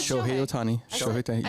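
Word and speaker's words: Shohei Ohtani: It's Shi Otani.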